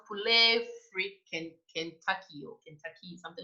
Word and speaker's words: Poulet Frit Kentucky: Please pronounce it for us. Fendi is one of them. Poulet Frit Kentucky.